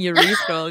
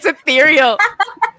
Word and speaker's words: ethereal: I kept saying urethral. You were like, it's ethereal.